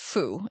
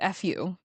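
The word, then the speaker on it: 福: entire belief system around do not know if I'm pronouncing this correctly. I think it's just foo. It's fu fu which is what stood for good fortune.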